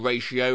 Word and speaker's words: ratio: saying hi to him i've been pronouncing ratio like patio this whole time unique as unique up